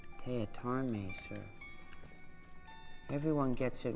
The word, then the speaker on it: Teatime: It's pronounced Teatarme, sir. Everyone gets it wrong, sir. Sorry, Jonathan Teatame.